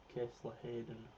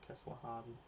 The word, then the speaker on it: Kessler-Hayden: Kessler-Hayden, not Kessler-Harden.